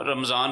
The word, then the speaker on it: رمضان: اصل تلفظ اس کا رمضان، قرآن کریم میں رمضان میم پر زبر ہے، رمضان ہم لوگ بولتے ہیں میں سے، تو صحیح تلفظ بولیں قرآنی تو مدینہ مدینہ۔